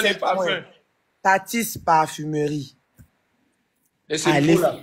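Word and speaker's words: Tathys: Tapez sur TikTok ou sur Facebook Tatis Parfumerie. Ça s'appelle et ça s'écrit T-A-T-H-Y-S Parfumerie.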